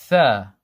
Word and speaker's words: ث: An easy way of remembering tha is to remember the letter 3 or the number 3. 3, the beginning of 3 is the same pronunciation as tha.